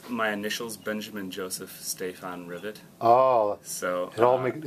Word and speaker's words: Rivet: wrong Kenny moer uh my last name is rivet like you would you know have rivets on